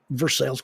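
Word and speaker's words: Versailles: rich people live then you can pronounce the name of your city any way you want to pronounce it but I'm in versales Kentucky and I'm trying to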